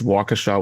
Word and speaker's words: Waukesha: So it's Waukesha, Wisconsin.